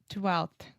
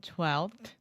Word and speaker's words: twelfth: But the F, we don't pronounce that. So you were saying 12th, but it's 12th with the normal TH sound at the end. 12th.